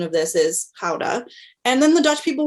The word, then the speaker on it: Gouda: a Gouda where I said, or the correct pronunciation of this is Gouda.